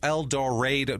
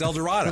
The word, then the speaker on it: El Dorado: They're like, actually, it's El Dorado. No, it's not. It's El Dorado, because you spelled it like that.